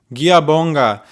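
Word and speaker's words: ngiyabonga: Giabonga. Okay. Giabonga. Oh my god, that took me like forever to find out how to say thank you in Zulu. Giabonga, guys.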